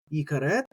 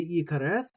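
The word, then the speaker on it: יכרת: Again, some people will say yikareth. When that tav doesn't have a dagesh inside of it, people will pronounce it like a th. I tend not to, but others will. That's very common. So you might hear yikareth, or I'll say yikaret.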